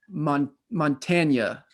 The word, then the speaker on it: Montanya: Her name is Karen Hoskin, and she is the owner of Montanya. How do you pronounce it?